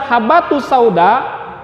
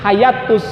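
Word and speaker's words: حبة السوداء: tersebut ada salah cetaknya tulisan habbatussauda hurufba yang harus titiknya satu ada kesalahan cetak atau mungkin ya ada titik tambahan menjadi dua Titik maka dibacanya menjadi hayatus hayatta saudara maka ketika dibacanya oleh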